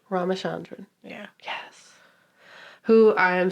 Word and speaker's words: Ramachandran: Ramachandran. Oh, did I say it right? Ramachandran. Ramachandran.